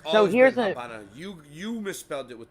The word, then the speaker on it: Habana: no abely no no they just pronounce it that way because they pronounced the V like a b mhm I don't